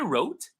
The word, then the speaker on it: wrote: She wrote, the W is silent.